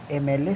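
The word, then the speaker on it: MLA: एन का प्रयोग उन संक्षिप्त नामों के पूर्व भी करते हैं जिनका प्रारंभ कॉन्सोनेंट से हो किंतु उच्चारण हिंदी के वोवेल से हो। देखिए एम एल, आप लोग एमएलए सुनते हैं ना, मूवी वगैरह देखते होंगे तो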